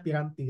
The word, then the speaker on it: peranti: ini piranti fotonik ya tulisannya peranti tapi dibacanya piranti ya sama seperti apa namanya